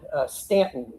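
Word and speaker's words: Staunton: After that, Early retreated all the way up to Stanton. I know it's spelled like Stuntton, but it's pronounced Stanton.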